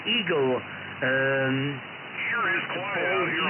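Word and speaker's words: Egil: Okay, I guess as you spell it, Echo, Golf, India, Lima, but pronounce it Eagle.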